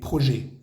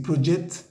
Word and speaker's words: projets: Decimos no projet, no projet. La palabra proyectos no se pronuncia ni la T ni la S. No vamos a decir project, ni projects, ni projects.